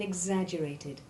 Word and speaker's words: exaggerated: The X2 sound is made up of the hard G sound followed by hard S1 or Z, as in eggs, and in our opening sentence we heard it in exaggerated.